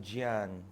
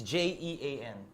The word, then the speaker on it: Jean: Gian sounds Italian, dude. It's Jean. J-E.